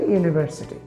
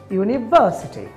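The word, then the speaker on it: university: আমি একটি ওয়ার্ড বলি, দেখেন বাংলাদেশের এটা ফ্ল্যাট টোনে বলে, বিশ্ববিদ্যালয়ের ইংলিশ শব্দ কি ইউনিভার্সিটি, বাংলাদেশে বলে ইউনিভার্সিটি, ইউনিভার্সিটি। আর বিদেশিরা বলছে ইউনিভার্সিটি, দেখেন বা জোরে বলছে। সো এখানে কি হলো, এখানে দেখেন কয়েকটা সিলেবল রয়েছে, ইউনিভার্সিটি, দেখেন পাঁচটা সিলেবল রয়েছে, এর মধ্যে বা সিলেবলটি আমি জোরে বলেছি ইউনিভার্সিটি।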